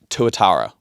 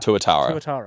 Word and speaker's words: tuatara: First up, Tuatara.